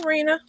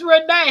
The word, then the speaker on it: Renee: Hey, Rena. Hey, Renee. Oh, I said Rena. Is it Renee? It's Renee. Her name is spelled the same as my middle name, Renee.